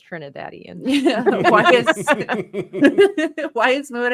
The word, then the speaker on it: Trinidadian: And then we got our favorite Trinidadian here. We got Tris. I said that weird, but that's actually the right way to say it. Trinidadian.